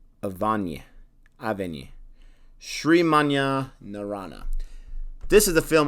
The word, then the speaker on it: Avane: In English, it'd be like Avane or Avani, but I'm guessing it's Avane.